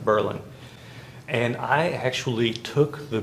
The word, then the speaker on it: Berlin: It's spelled like Berlin, but it's pronounced Berlin.